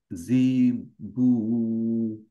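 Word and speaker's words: جيم: তো আবার ওয়া ওয়াহা জিম এটা হচ্ছে জিম জিমের উচ্চারণটা হবে হচ্ছে জ্যাকে জ্যাকের মত জ্যাক তাহলে হইছে মানে আপনার এই জি চলে আসতেছে মানে আপনার উচ্চারণটা আপনি জেড করে ফেলতেছেন এটা নিয়ে তো আমরা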